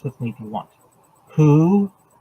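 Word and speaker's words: הוא: Who, that's H-U in pronunciation, not W-H-O.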